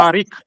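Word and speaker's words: Tarik: I can't pronounce it. Tariq? Yeah. Tariq. Okay, I didn't expect to see. T-A-R-I-K, Yeah. Tariq.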